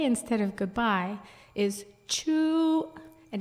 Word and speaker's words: chu: goodbye is chu, and it's like CHEW, but it's actually, we didn't have a written language, but it's spelled CHU, glottal stop UE, so it's longer. It's like chu, and it kind of cuts off.